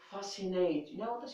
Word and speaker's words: fascinating: so the seal is not pronounced is not pronounced now let's go to the word fascinating fascinating fascinating for example you are a driver